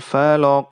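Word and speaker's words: فلق: sebagaimana kita ketahui bahwa huruf Va dan lam Itu adalah huruf yang tipis pada saat diucapkan jangan sampai huruf a dan lam ini ikut menjadi tebal karena pengaruh huruf qaf yang tebal contohnya biasa orang bilang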